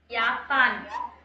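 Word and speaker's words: Japan: யாப்பான். யாப்பான். ஜே வந்து வை pronounce பண்ணாம யாப்பான். ம் ம் ம் ஆ யாப்பானிஷ்.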